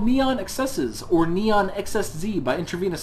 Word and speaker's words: NeonXSZ: at a game called neon excesses or neon xsz by intravenous software me on excess is actually the official pronunciation of the game's title according to the developers website you can go look